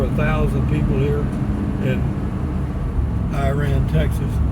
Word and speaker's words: Iraan: thousand people here in Iran Texas it's i a a n it's pronounced iraan for Ira and and